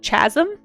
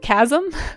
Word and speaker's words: chasm: uh until I was much older than I should have been, I pronounced it uh chasm instead of chasm because I would read that in books and I'd never heard anyone say the word chasm.